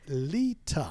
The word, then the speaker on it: Leta: let's just clarify something can you please say my name lita okay thank you for those of you listening how many times has he just said lita well it's not a silent r it's a leeter no you're usually a little